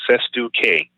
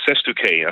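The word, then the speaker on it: cestui que: It's called SESTU-K. SESTU-K. SESTU-K is another word for a beneficiary trust. So if you have a trust set up for you, that's a beneficiary trust. You can also call it a SESTU-K trust. And that's just a Latin word. It's kind of a weird word, and I may not have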